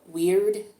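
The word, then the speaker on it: Wyrd: This rune is called Weird. It's spelled W-Y-R-D.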